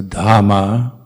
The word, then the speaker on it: dhamma: and then try to pronounce all the h's so dhamma buddha sangha of course when we're going full speed through these chants uh we uh we often just sort of slide through it without pronouncing h's but due to try to pronounce the h's that will be the correct way to do it and then another difficult